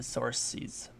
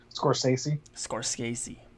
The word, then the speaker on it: Scorsese: Talking about Departed, Martin Scorsese, Scorsese. I Scorsese.